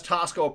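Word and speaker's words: Taxco: Uh, and that's Tasco pronounced or spelled T- Axco.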